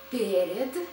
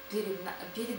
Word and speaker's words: перед: we use preposition перед, in front of, дверь, перед дверью, we use nouns in instrumental case.